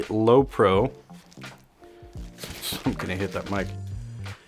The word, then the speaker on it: Lowepro: we have here is the low pro is that how you say it it is the lowepro i'm gonna hit that